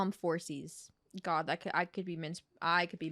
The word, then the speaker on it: Phorcys: Is the PH a P or a F? I think it's F, like phone. So I'm gonna call him Phorcys.